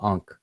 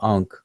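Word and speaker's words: ankh: This unk right here that a lot of people are familiar with is a triliteral. It represents three consonants, but the way that people spell it in English, people spell it in English with the K and the H together.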